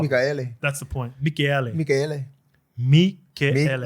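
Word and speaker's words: Mikaele: We also had someone in praising Thomas Michaele. Apparently, No, it's 4 syllables, yeah. That's how you pronounce his name. Someone gave us the pronunciation of that. Michaele.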